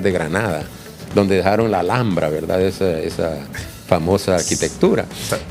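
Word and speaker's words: Alhambra: qué desayuné hoy la alambra alambra se escribe lh alambra es una palabra árabe Entonces entonces cuando él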